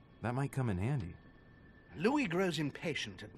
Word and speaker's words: Louis: Also, I should start pronouncing Louis's name Louis because he's French, right? Rather than pronounce it the English way.